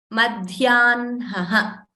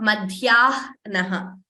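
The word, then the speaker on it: मध्याह्न: Sorry, it is not pronounced as hna, but as nha. Madhyanha. So in this word, you can see how we are pronouncing it. Madhyanha, not madhyanaha. So first n is pronounced madhyanha. Next one.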